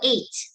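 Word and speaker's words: ate: word okay so how do you pronounce this word it's like the let the number eight that's how you say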